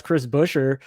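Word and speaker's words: Chris Buescher: figured out how to say it and that's chris busher two of the last three times he's ran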